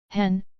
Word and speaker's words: Hen: Hen, pronounced like hen, but with a flat tone.